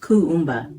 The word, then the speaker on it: Kuumba: Day 6 of Kwanzaa is Kumba, pronounced Kuumba, meaning creativity.